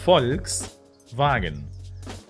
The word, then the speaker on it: Volkswagen: core Brands Volkswagen Volkswagen in German it's pronounced Volkswagen folks wagon the letter V in English is fou in German and as we said before the letter W is V that's why we don't say Volkswagen but we say Volkswagen